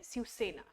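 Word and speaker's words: Svrčina: इसको प्रोनाउंस हम करते हैं सिरसेना, spelling is different but pronunciation is different.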